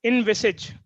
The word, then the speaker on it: envisage: form a mental picture of something it is pronounced as envisage it was a lesson for me as well